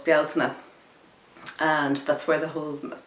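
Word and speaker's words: Bealtaine: the month of May in Irish is called Bala and that's where the whole sometimes people call it belan the the Celtic Festival comes from so the the CTIC GIC pronunciation is Bela and it is uh such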